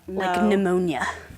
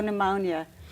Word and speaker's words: pneumonia: I like the ones with the silent letters that's not like pneumonia Oh pneumonia why is there p I don't know I